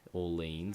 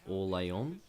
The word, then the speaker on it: Orléans: Orléans, I think. It's not like the American city, Orleans. It's Orléans, because that sounds French, and that's how my Martin Tyler says it.